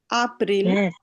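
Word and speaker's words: April: আপ্রিল, শোনেন এটাকে কেউ কিন্তু এপ্রিল বলবেন না, এটা কি আপ্রিল।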